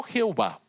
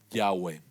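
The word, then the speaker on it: Yahweh: nombre personal de Dios que los eruditos creen que se pronuncia no Jehová que se pronuncia yahwe y hay toda una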